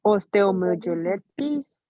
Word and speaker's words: osteomyelitis: La osteomyelitis, la La 2.